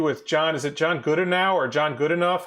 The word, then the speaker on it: Goodenough: Is it John Goodenow or John Goodenough? How do you pronounce his name? Yeah, it's John Goodenough.